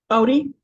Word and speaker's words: Otey: um but Katie and your last name is is pronounced oot Odie Odie okay Odie okay thank